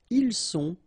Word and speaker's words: ils sont: Ils sont, final T not pronounced.